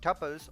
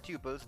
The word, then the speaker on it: tuples: Welcome to this session on Python tuples or tuples, depends on how you're comfortable in pronouncing it.